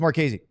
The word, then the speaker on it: Marchese: I apologize, Matt Marchese. I'm not sure how to pronounce his last name. Is it Marchese? Yeah. Okay, so it's Marchese.